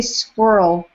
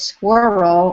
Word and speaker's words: squirrel: I say squirrel with one syllable. Uh, Penny says squirrel with two syllables.